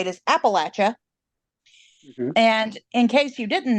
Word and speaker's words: Appalachia: episode is a play on how to PR pronounce Appalachia appropriately accurately um I know that a lot